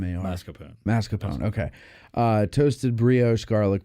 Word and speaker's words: mascarpone: yeah uh fee Ragu Savory basil Mars Mas masarone mascarpone moose Marone moose there's no R in the it's not M masone mascapone okay uh toasted Brio garlic bread entree served